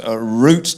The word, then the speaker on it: root: in the old world the word root does not rhyme with doubt but with boot tute fruit chute and loot blame the French you'd have